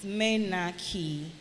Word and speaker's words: menarche: Menarche. Menarche is spelled M-E-N-A-R-C-H-E. M-E-N-A-R-C-H-E. That's the word menarche. Menarche.